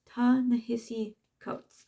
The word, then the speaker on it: Ta-Nehisi Coates: not gonna say because I've heard their name pronounced so many times, but I can never get it out. Ta-Nehisi Coates.